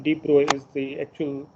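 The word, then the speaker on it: de Broglie: હવે આનો ઉચ્ચાર ઘણી બધી જગ્યાએ ડી બ્રોગલી એવો તમે સાંભળશો. The actual pronunciation is ડી બ્રોય. Okay, this G and L are silent. ડી બ્રોય is the actual pronunciation of this.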